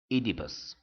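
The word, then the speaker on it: Oedipus: And by the way, it is pronounced Idibus.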